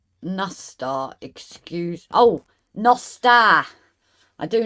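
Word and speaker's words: nos da: That is how the Welsh is pronounced. So you see the word and no, o, s, nos, da, a, da, nosta is it's what I got taught by one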